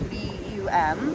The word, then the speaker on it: VAM: And then we move up to our Swadisthana chakra, our sacral chakra, and we have VUM with a V, spelled VAM, but it's pronounced VUM.